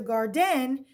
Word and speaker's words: garden: run out to the garden and pick carrots that's right she says garden not garden therefore the accents going to be on the first syllable so look at the